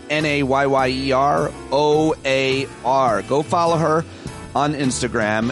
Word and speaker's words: Nyyera: It's hard to pronounce the way that she spelled her Instagram handle, but it's Nayyeroar.